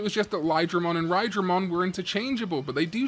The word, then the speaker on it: Raidramon: I mean, I guess because it's a bit, based on Raijin, the god of thunder. You probably all meant to pronounce it as like Rydramon instead of Raidramon, you know.